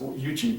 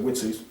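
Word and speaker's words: Uechi: It looks like it's pronounced Yuchi, but it's actually Witsi in Okinawan.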